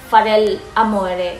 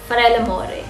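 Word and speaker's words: fare l'amore: But at first, I don't know how to pronounce it correctly. Like, I pronounce it Farel Amore. So, may pause. But then, so, luckily, I asked my two friends from Italy. And then sabi ko, hello, paano ba i-pronounce to sa inyo? Sabi niya sa akin, ang tamang pronunciation yan is Farella More. So, yun yung tamang pronunciation.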